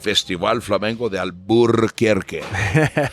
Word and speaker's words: Alburquerque: festival flamenco de alburquerque i emphasize that r just to piss everybody off who's happy that we took it out so they could pronounce it easily that's why we say burke you know that right that's that that yeah is the acknowledgement of the r that was removed by the pachucos it's all a resistance